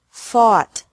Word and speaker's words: fought: Fight, fought, fought. Seek, sought, sought. Teach, taught, taught. Think, thought, thought. Remember that the G is silent in these verbs.